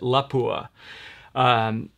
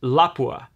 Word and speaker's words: Lapua: tend to pronounce it Lapua apparently that's incorrect and it's Lacroix it's not there's no accent on the end so I'm trying to switch over and I'm trying to pronounce Lapua the correct way so